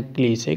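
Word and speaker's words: cliché: ठीक है, क्लीशे, देखो इसकी प्रोनाउंसिएशन ध्यान देना, ये है क्लीशे।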